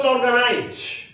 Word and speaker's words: organize: For example, organize. Organize. There are three syllables. That is a trisyllabic word. And where shall we give the stress? Organize. Organize. Organize. So, the accent has been given on the first syllable, organize.